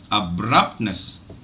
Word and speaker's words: abruptness: just observe abruptness but look at what I do with the third syllableness I don't say Nest I sayness I don't give it that much prominence I will not give it that much energy I don't give it that much duration so a stress syllable